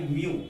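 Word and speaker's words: mu: और refractive index ऐसे भी लिखते हैं, उसको डिनोटेड करते हैं, denoted by denoted by म्यू, इसको प्रोनाउंसिएशन करते हैं म्यू।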